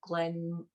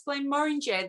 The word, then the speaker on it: Glenmorangie: I think another, from memory, was from Glenmorangie. How am I pronouncing that? Glenmorangie. They like to. Glenmorangie. It's the orange.